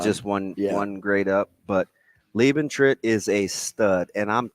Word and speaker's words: Liebentritt: Lee hyphen BAN hyphen. I said ban. TRITT. And it's Lieben. So it's Liebentritt.